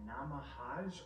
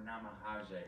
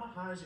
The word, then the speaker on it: namahage: face could possibly be a namahage or namaha jay however you want to pronounce it not mahajan in traditional Japanese folklore